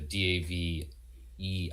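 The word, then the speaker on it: Daveigh: And it's a D A V E I G H. So, it looks like it should be Davey, but it's uh Dave.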